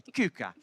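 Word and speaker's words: Quooker: That's how you say it, by the way. Cucker. Most people come to us and say, "How do you how, Luke, that tap, how do you how do you pronounce it?" Cooker cucker. Cooker. They don't cer. It's a cucker tap.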